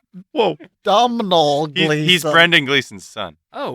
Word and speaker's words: Domhnall Gleeson: It's Oh, it pronounced is. like Donald. Yeah. Don't know. Whoa. It's a name he said. Whoa. Domhnall Gleeson.